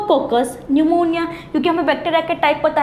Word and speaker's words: pneumonia: पर क्या पढ़ना है यहां पर जो स्पीड है वह साइलेंट है इसलिए उसको क्या बोला है न्यूमोनिया बोला गया है क्या